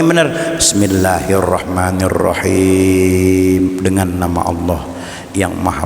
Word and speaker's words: Bismillahirrahmanirrahim: Karena bacanya sekedar kuping dengar. Kadang-kadang Bismillahirrahmanirrahim, Bismillahirrahmanirrahim, bukan bismillah, Bismillahirrahmanirrahim.